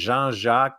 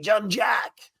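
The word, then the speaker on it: Jean-Jacques: I was working overseas they couldn't say Jean uh Jean jaac but they goes hey John jaac uh and then I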